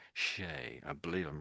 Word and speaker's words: Shea: I think that name's pronounced Shay. So sh, that's an E, we say A. So Shay.